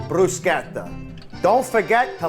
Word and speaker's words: bruschetta: sure you people know how to say it correctly. It's bruschetta, not bruschetta. Okay, this is not a casting for the Olive Garden commercials. It's bruschetta.